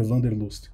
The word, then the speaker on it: Wanderlust: de interações entusiasmantes, né, que em inglês é o Interaction Wanderlust, mas que um amigo alemão disse que a pronúncia certa é Wanderlust.